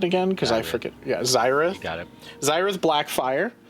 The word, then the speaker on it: Zyrith: How do I pronounce it again? Because I forget. Yeah, Zyrith.